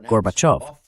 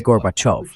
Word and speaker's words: Gorbachev: Ahora pronuncie off como la parte acentuada y dígalas juntas. Gorbachov. Lo ha conseguido, señor vicepresidente. Es Gorbachov.